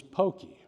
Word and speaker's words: Pocky: But my name is Pocky. So this is the audience participation. When you think of Pocky, what comes to your mind? Hokey Pokey, number one answer. Pocky and Gumby, Pokemon.